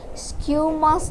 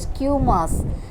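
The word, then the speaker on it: squamous: epithelium simple this epithelium is again divided into skew mass epithelium try to pronounce it in a correct way skew mass epithelium cuboidal epithelium columnar epithelium ciliated epithelium pseudostratified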